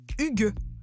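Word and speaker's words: hygge: la mode chez nous la tendance yg prononcer huguet ce serait la nouvelle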